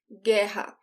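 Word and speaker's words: guerra: for war gerha so the gu e the sound is ge and the double r in portuguese sounds like the age in english so this is geha and for every noun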